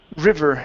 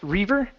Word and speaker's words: river: uh next we have the word River instead of Reaver river river okay give me a good V instead of river river